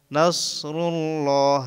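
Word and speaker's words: نَصْرُ اللَّهِ: পরিমাণ টেনে পড়তে হয় নুন সদ জবর না নাসর লাম পেশ রুল নাসরুল লাম খাড়া জবর নাসরুল্লাহ হাজের হিসরুল্লাহি ইজা নাসরুল্লাহি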